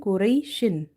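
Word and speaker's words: قريش: It's written Kureishin, but we have to read Kureish. Kureish by making sheen silent, giving it like this sukun sign and removing the two kasras from it.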